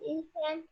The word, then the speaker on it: Island: Remember, the S is silent.